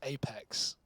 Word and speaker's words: apEX: Vitality with his Apex terrorists win ni it's pronounced Apex very that's actually that's great that's very funny